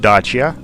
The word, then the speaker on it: Dacia: from Romania or national car is called the Dacia it's pronounced this the way I'm pronouncing it Dacia and right now it's a Renault company so